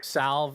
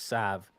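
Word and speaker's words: salve: I mean again like salv is not the correct pronunciation for health salv it's Sav and that's just never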